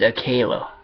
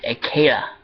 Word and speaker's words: Akela: Time he was a pup, and the way that you pronounce Shadow's father's name, his name is Akela.